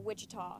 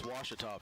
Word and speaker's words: Ouachita: ouachita sports digital network i've heard people say oh a cheetah oh wichita back in texas everybody pronounces it wichita but really it's ouachita washington washington how would you pronounce it baptist university get it right it's washington people it's watch it all wash your as tongue says it's washita people thanks to the students